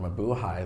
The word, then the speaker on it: Mabuhay: that I've experienced when people say the word MA-BUHAY. They don't even try to say it correctly. They're like, what's that musical again? Mamboomba, boo-booba?